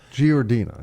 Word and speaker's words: Giardina: Giardina. Is that how you pronounce it? That's right. I mispronounced that earlier.